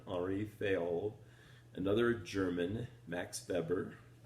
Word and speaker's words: Weber: what a frenchman already failed another german max beber pronounced the w like of the number um and